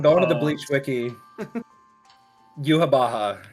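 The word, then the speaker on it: Yhwach: to me multiple times it is in fact pronounced yuab Baha um so that is just what I've been going with because it is based on like goova like Yahweh like yeah that is exct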